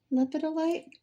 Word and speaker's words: lepidolite: And these were the earrings that we made with the lepidolite. Lepidolite. That's how I was pronouncing it.